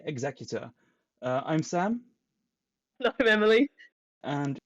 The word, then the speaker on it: Executor: I've had notes from last week's episode about a couple of my pronunciations, including me calling Vader's Star Destroyer the Executor when it's actually called the Executor, and calling Sienna Sienna.